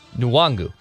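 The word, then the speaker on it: Nwangwu: is it is nuwangu i know chris longer said the end was silent i don't think he was correct in that assessment according i know i'm not i shouldn't be the one who's critiquing pronunciations and spelling and reading especially his professional tv support it's nuwangu yes according to the pronunciation guide you're correct chris long is wrong yes i think you're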